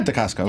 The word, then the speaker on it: Dacascos: Oh yeah, Dacascos.